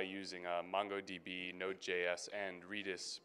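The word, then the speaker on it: Redis: a MongoDB nodejs and reedus back back end or redness if you want to pronounce it that way and we use this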